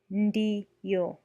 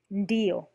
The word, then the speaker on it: ndiyo: Pronouncing ND as in ND in end with more of a stress on the tongue. The tip of the tongue touches the roof of the mouth while pronouncing N. When detaching the tongue from the roof of the mouth, pronounced D.